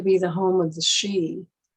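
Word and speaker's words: sidhe: the home of the she s-i-d-h-e pronounced machine sometimes the two today are referred to as the sheen and this structure is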